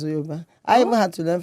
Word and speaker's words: Yoruba: is not Yoruba. Are you okay? It's Yoruba. It's okay. Okay. And my husband is Yoruba, so have no fear. It's Yoruba.